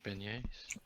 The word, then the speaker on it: beignet: Albrecht's favorite food is beignets. Fancy boy. Celine will have to learn how to make beignets.